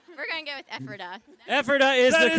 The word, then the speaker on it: Ephrata: It rhymes with Pephrata. Right. We're going to go with Ephrata.